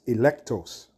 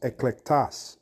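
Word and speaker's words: ἐκλεκτός: the word therefore chosen is electros or no I'm sorry it's pronounced eclectus eclectus and that word means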